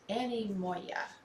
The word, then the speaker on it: anemoia: day and the word of the day is Annie Moya it is spelled a-n-e-m-o -i-a anymore yeah anyways the meaning